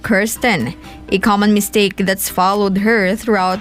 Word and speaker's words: Kirsten: The correct pronunciation, it's Kirsten, not Kirsten.